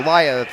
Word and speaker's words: Aaliyah: Or Aaliyah is how it's pronounced.